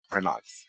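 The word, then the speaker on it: Renoux: In French, OUX is pronounced O, not wa. Also, is this email okay to send spoilers to? Kyle. That was Kyle's email. Kyle, I need you to say Renox instead of...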